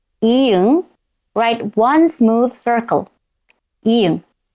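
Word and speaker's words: 이응: Next is i-eung. Its name is i-eung, i-eung. Write one smooth circle, i-eung. At the beginning of a syllable, it is silent.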